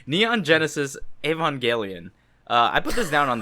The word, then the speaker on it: Evangelion: All right, Neon Genesis Evangelion. I put this down on the list. What? I love that pronunciation.